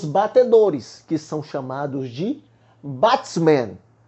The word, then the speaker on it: batsman: Creio que a pronúncia seja essa. Professores de inglês, por favor, se eu estiver falando errado, me corrija e ensine para os nossos alunos, tá bom? Por favor, vamos lá. Mas na pronúncia do professor Leandro é batsman, o nome da pronúncia.